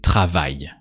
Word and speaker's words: travaille: So you have to say travaille, no A sound.